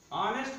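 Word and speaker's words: honest: ऑनेस्ट की शुरुआत एक कॉन्सोनेंट से हुई, अर्थात यच से हुआ, यच एक कॉन्सोनेंट है, फिर भी हम इसका जब उच्चारण प्रोनाउंसिएशन करते हैं तो लिखते हैं ऑनेस्ट।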